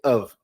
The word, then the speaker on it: of: Lembrando que aqui, você não pronuncia o som de F, pronuncia o som de V. Então vai ser of.